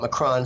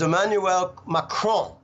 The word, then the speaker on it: Emmanuel Macron: my call but I let's just call it Mac run so people know what I'm talking about French